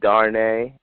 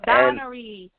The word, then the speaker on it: Danry: Is that how you say it? D-A-R-N? Donnery. It's Donnery.